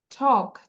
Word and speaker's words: talk: টক, TALK, টক।